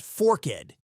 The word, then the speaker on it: Forked: It's Forked River, which is pronounced Forked, two syllables, and locals will correct